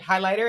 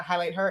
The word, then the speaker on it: Highlighter: pronounces highlighter right I I made it so that it would read highlighter and not highlight her and so thank you that's that's all miles that I got I Gotta Give the assist to uh podcast partner here real MVP Fanatics partner okay period that third H is silent it is thank you